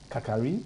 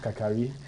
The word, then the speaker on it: Kakari: The name is Kakari. It's Kakari. Yeah. Okay. Though it's spelled Kari, but it's pronounced Kakari.